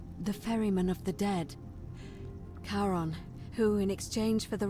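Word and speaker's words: Charon: Only your pronunciation is a little off. The name you heard wasn't Karen. It was C H A R O. Yeah, as we thought. As in Karon, the fairyman of the dead.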